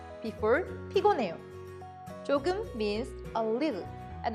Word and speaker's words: 피곤해요: Let's first practice the pronunciation of pigonhae. 피곤해요.